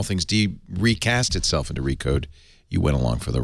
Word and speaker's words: Recode: Liz Gans now Liz do I say recode now that's the official name yeah you don't have to pronounce the slash it's silent re slash code no you don't have to say that uh we we love uh